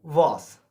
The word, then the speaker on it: was: focus on the meaning the pronunciation of the word in German was due to a pronounce as are so the word is